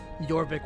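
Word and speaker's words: Jorvik: is the Anglo-Saxon word yorvik would have been the Norse pronunciation of trying to pronounce uh aaer Wick or aaer witch so like if you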